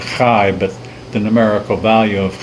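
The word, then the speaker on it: חי: You pronounce it Chai, but the numerical value of Chai is 18.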